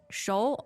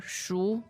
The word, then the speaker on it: 熟: So there are 2 pronunciations for 熟. Okay. 熟 or 熟. Okay. Both correct.